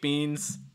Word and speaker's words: beans: that long eye sound just make sure that it's relaxed enough so again it's not beans it's beans it's not beans it's beans relax enough lots of air okay our next one